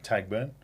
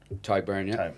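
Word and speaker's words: Tadhg Beirne: in Chicago is it can I am I pronouncing it wrong? Tagburn. Tyburn.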